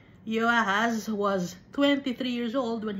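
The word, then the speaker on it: Jehoahaz: land took Yeh or Jehoahas the son of Yoshaya and made him king in his father's place in Jerusalem or Jerusalem. Kasi letter J no ah dapat ang pagpo-pronounce ay letter Y. Yoahaz was 23 years old when he became king.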